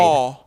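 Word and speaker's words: 어: aw. Aw. Aw. I recommend practicing this one extra because it's often confused with o, but they do sound very different.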